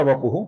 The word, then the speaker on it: वपुः: अगली पंक्ति में अनिर्देश्य वपुः, ये पहला नाम है जिसमें शो है, शो नहीं है। पु ह्रस्व है, जिसका हमें छोटा लघु ही उच्चारण करना होगा।